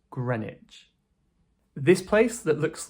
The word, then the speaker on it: Greenwich: This is Greenwich, like sandwich, right? But Greenwich? No, this is Greenwich, Greenwich, so ignore that W. This is pronounced Greenwich.